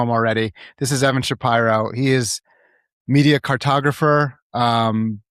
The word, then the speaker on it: Shapiro: I thank you for pronouncing my name, Shapyro, correctly.